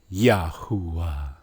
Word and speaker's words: Yahweh: Because they have a strong oo sound. Yahuwah. Now look at the second one. Yahweh. Yahweh. Isn't that how they pronounce it? Yahweh. Okay, look at the phonetics. How. Wa. How. Why is it so different? Because they added an extra vowel after the ha to try to escape the sound that the wa